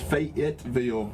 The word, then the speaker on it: Fayetteville: available or fayetteville it's it's actually pronounced fayetteville but we call it fedville down there fed yeah it's f-e-d-v-i-l-l-e